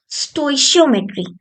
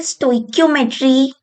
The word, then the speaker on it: stoichiometry: स्टोइशियोमेट्री। इसे स्टोइकियोमेट्री या स्टोकियोमेट्री या स्टोक्योमेट्री भी बोलते हैं लोग।